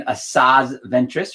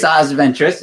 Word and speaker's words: Asajj Ventress: got a Star Wars Insider number 159 featuring Asajj Ventress, right? And Sure. We'll take a look at least. No, I saw the character. I Okay. think that's the right pronunciation. Asajj Ventress.